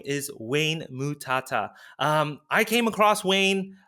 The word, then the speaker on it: Mutata: a great guest here with us today Wayne mutata did I pronounce the last name correctly you got it you got it right very difficult to pronounce but yeah it's Wayne mutata I'm originally Zimbabwe wow okay cool so when